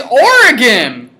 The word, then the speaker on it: Oregon: Wisconsin pronounced Oregon like Oregon it's or again fine you're complaining that